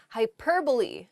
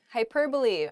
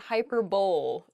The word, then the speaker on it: hyperbole: often pronounced incorrectly this is funny I enjoy mispronouncing this first word the first word is hyperbole hyperbole um it's not hyperb though it does sound very funny to say